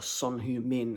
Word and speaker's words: Son Heung-min: Yeah, man, Heung Son, or Son Heung-min as it's pronounced in South Korea.